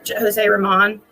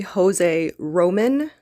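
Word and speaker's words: José Román: I know it's Jose Ramon. It's actually Jose Roman, and I know a lot of us have been saying it wrong or had been saying it wrong.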